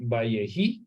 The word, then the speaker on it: ויחי: la paracha número 12, Vayehi, que se escribe con las letras Vav, Yod, Het y Yod. Va, Ye, Hi.